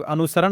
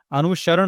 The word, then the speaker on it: अनुसरण: इसको बहुत कोई अनुसरण भी बोलता है। अनुसरण। तो जब हम लोग अनुसरण बोलते हैं ना तो यह वाला न का उपयोग हो जाता है। यह वाला न जो कि गलत है। अनुसरण होगा। अनुसरण ण। इसको बोलते हैं ण।